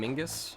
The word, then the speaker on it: Mingus: Charles, I call him Mingus. Rhymes with Pingus.